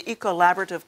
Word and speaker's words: ECOllaborative: But it's also about a consortium within this university that's been put together, which is do you pronounce it the ECOllaborative? Yes, the ECOllaborative Colloquium on Climate Change.